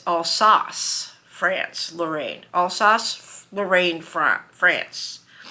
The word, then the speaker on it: Alsace: Now both of them were born and I was pronouncing it incorrectly. The woman at the historical center corrected me. It's not Alsace France. It's als France.